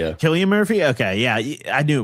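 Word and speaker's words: Cillian Murphy: Um Killian Murphy. Yeah, Killian Murphy. Okay. Yeah, I knew it was some weird pronunciation.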